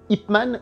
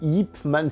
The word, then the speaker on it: Yip Man: Donc, pour la petite histoire, il s'appelle Yip de nom de famille, donc Y-I-P, hein, si on l'écrit avec des lettres de chez nous. C'est marrant parce que pendant très longtemps, Ip Man, je le voyais écrit aussi Yip, Y-I-P, Yip Man si vous voulez, hein, je fais exprès d'accentuer la prononciation.